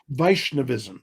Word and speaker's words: Vaishnavism: me some more about uh how do you pronounce it vaishnavism is that correct vaishnavism yes vaishnavism right so within the Hindu complex